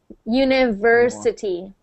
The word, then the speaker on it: university: univers University good so I don't want to hear any W sound whenever you see the V think of a v like your teeth touching your lip v v yeah University yeah yeah that's wrong